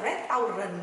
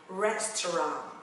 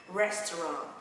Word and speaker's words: restaurant: Mình để ý ở mặt phiên âm này ha, nó không là restaurant đâu mọi người nha, nó sẽ đọc là restaurant. Để cho âm này là âm Anh Mỹ ha, restaurant.